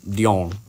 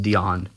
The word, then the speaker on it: Dion: Last stream, he told me I keep pronouncing his name too French. I thought it was, like, Dion. Like, the French Dion. Because that is a French name, so. Yeah. Apparently, it's just Dion.